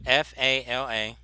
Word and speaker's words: Fala: No, FALA. FA. Yeah, FALA. Huh? Fala, like fala la la.